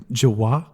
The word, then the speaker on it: Jawa: but you also see the Jawa on their giant You like say it weird. semi truck. Say that again. Wait. Jawa? They're that's Jawas. That's incorrect. It's Jawa. Jawa. Jawaniqua? No, it's just Jawa.